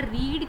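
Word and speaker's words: read: ही हैज़ नॉट रेड the book, यहाँ रीड के ही spelling है बेटा, लेकिन रीड की फर्स्ट फॉर्म रीड पढ़ी जाती है, इसकी सेकंड और थर्ड फॉर्म रेड पढ़ी जाती है, ठीक है।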